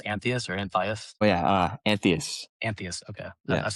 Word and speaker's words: Anthias: Is it pronounced Anthias or Anthias? Oh yeah, Anthias.